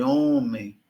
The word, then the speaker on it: homem: Nós veremos daqui a pouco que há uma palavra como hoje, homem, elas são grafadas com H, mas você não pronuncia o H.